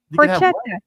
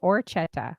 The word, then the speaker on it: horchata: Oh, it's not horchata. I thought it was with an H. Oh, it's orchetta.